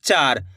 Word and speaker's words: चार: चार। चा, चा का उच्चारण देखो यहाँ पे खींच को रहा चार, इस तरीके से। चर थोड़ी बोल रहे चार, तो चा का